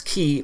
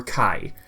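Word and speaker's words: χ: In Birth by Sleep, Xehanort explained that X is an ancient letter pronounced as Ki or Kai.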